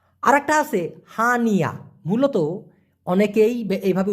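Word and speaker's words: hanya: মূলত অনেকেই এইভাবে উচ্চারণ করে, উচ্চারণটা হওয়া উচিত হচ্ছে হানিয়া। প্রথম হবে হান, তারপরে হচ্ছে ইয়া, হানিয়া। হান ইয়া না হয়ে হবে কি হানিয়া। যেমন হান ইয়া, ওরা একসাথে উচ্চারণ করে হানিয়া, মানে হলো শুধুই।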